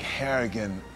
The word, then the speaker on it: Harrigan: I think I think Harrigan rhymes with arrogant it's a good way